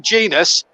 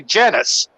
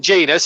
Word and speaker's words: Genius: players I can remember, one was Jermaine Genius. A lot of people, when he broke into that Forest team at 17, used to say Genus. Yeah. And then it was Jermaine Genius.